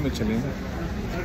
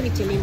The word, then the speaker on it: Michelin: Este lugar no tiene estrellas Michelin. No sé por qué, pero debería tener. No, no, no se dice Michelin. ¿Cómo se dice? Michelin. Michelin.